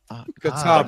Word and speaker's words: Katama: Well, I'd like to to ask a little bit about uh Katima or Katama. Um Kama Katama Katama without giving away any like you know ton of spoilers is pronounced ah Katama Kanahashi Rossi.